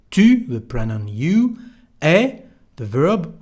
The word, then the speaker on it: est: You remember the sound U to say tu, the pronoun you, est, the verb, we don't pronounce the S, de, quelle.